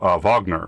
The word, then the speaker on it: Wagner: me check my dms yep it's pronounced wagner oh wagner's in the composer yeah i saw that